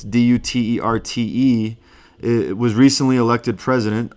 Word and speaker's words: Duterte: I thought it would be Duerte, but it's Duterte.